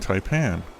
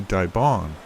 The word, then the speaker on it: Taipan: I've apparently been mispronouncing Taipan. It should be Daong, but I'm going to stick with my version for now.